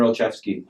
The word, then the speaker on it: Olszewski: So that was I can't pronounce his last name, but Gunnar Onzlu. Yeah, that was like his standout game. Yeah, Gunnar Olszewski. That's how you pronounce it.